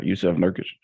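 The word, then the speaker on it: Jusuf Nurkić: Did I pronounce that right? Yeah, Yusuf Nurkic.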